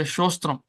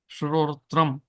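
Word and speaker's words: श्रोत्रम्: But we won't say correctly, we'll say, go and say shostram. Incorrectly, we'll say that, pronounce it. Because it is a tongue twister. Shrotra. Shrotram.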